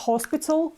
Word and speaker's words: hospital: like this it's not hospital it's Hospital okay as you know H is silent so we don't pronounce it it's just Hospital now